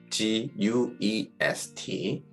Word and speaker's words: guest: G 다음에 U가 나왔는데 그 다음 나오는 글자가 E다. 그러면 그 사이에 있는 U는 소리가 나지 않습니다. 대표적인 예로 손님이라는 뜻을 가지고 있는 guest, G-U-E-S-T. 이때 U가 묵음이 돼서 guest로 이렇게 소리가 나고요.